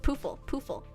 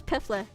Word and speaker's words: Poofle: I can't believe, like, Poofle. That's such a good name, but also you would not expect her name to be like pronounced like that. I thought it was Piffle.